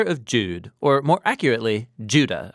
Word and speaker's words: Judah: Jude or more accurately Judah according to the pronunciation of his name both in Greek and in Hebrew judo is one of